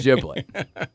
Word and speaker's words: giblet: And the whole giblet pronunciation conundrum we have at Thanksgiving. Who cares? Why do we fight it out over giblet or giblet? Come on. If I had to vote, it's giblet.